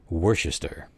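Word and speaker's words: Worcester: for County um sauce so apparently the proper anunciation is in fact Worchester but uh I can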